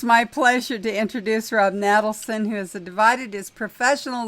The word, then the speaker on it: Natelson: That's one of the best introductions I've ever gotten, except the name is pronounced Natelson.